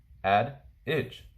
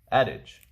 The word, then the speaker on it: adage: bungling the next word adage as you see right here add itch adage the definition a proverb